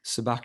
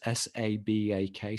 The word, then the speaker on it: Sabak: Sabak is spelled Sabak, so Sabacc Books.